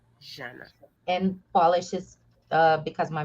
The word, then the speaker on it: Jana: So people will say Jana, Jana, Yana, and I will answer anything, no problem. But the right way to pronounce it is Jana, Jana.